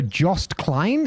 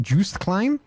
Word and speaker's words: Joost Klein: I think I'm the only one who would watch Eurovision this year purely for Jost Klein. Is that how you pronounce it? Joost Klein?